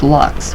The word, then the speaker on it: lux: X Lux and it's pronounced locks with the you sounding like it tuba so I loose -